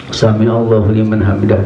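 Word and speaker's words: سمع الله لمن حمده: yang benar yang soap yang tepat adalah sama Allah liman hamidah jadi daunnya itu enggak nikmat kan enggak dipanjangan tapi kosong dan artinya bacanya pendek saja karena dia enggak ada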